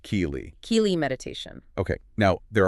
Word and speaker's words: Kelee: And just for clarity, that's pronounced Kelee.